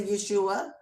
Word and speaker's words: Yeshua: His name was Yeshua, or Yeshua, however you pronounce it. I say Yeshua.